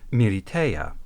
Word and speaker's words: Militia: The Japanese version bore the title Militia, written in English, but with furigana showing it was meant to be pronounced Militeia, just like the militaire in League Militaire.